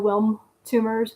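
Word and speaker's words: Wilms: I think that's how it's pronounced. It doesn't have a on it. It's w i lm. So Wilm tumors.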